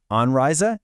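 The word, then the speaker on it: Anreise: Let's get the pronunciation right. Anrisa and oprisa.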